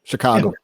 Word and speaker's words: Chicago: watch it uh chicago illinois um did i pronounce chicago right yep chicago chicago chicago cool uh yeah we have we